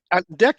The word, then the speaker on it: Ant and Dec: Ant and Dak, you said it perfectly.